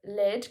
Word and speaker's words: lead: So, lead can refer to a chemical element that used to be found in pencils. This is where the E sounds like red.